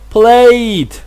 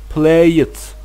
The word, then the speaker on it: played: consonant or a vowel, the ed sounds like d. Okay, and it pronounced played, opened, called. And guys, don't ever confuse that. We can't pronounce it like play it, open it, call it. No, we don't pronounce e sound. It's just like played, opened, called. Okay guys.